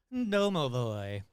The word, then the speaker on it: Domovoy: How to pronounce Domavoy. Doooy. Okay. Well, just like I said it, but more humanlike. Domovoy.